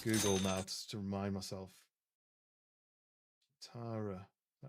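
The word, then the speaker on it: Cheetara: Chitara. Is that how you say it? Chitara.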